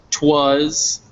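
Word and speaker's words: 'twas: you see this this word twas um it's pronounced twas and it's just short for it was um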